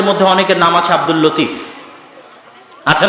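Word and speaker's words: لطيف: আমাদের মধ্যে অনেকের নাম আছে আব্দুল লতিফ। আছে না নাই? আছে। এই লতিফের সঠিক উচ্চারণ হচ্ছে লাতিফ।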